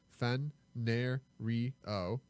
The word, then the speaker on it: Fenario: And there he suggests that Fenario is a perfect place name. If you need a generic name for an indeterminate place because it has 4 syllables, fen, ner, re, o.